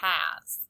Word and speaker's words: has: Our first sight word is the word has. The word has a heart under the S because the S makes the Z sound.